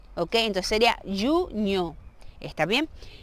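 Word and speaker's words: junho: Junio lleva aquella NH y esa pronunciación de NH es como una ñ, ¿ok? Entonces sería junio, ¿está bien?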